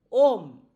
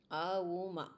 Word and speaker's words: Om: If you want to compress the Vedas into one syllable, it is Om. Auma. Waking, dreaming, deep sleep. 3 syllables are combined to become Om.